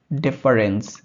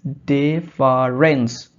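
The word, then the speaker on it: deference: synonym হচ্ছে neglect or fail neglect or fail ডেফারেন্স ডেফারেন্স নট ডিফারেন্স ডিফারেন্স ডিফারেন্স spelling and প্রনান্সিয়েশন ইজ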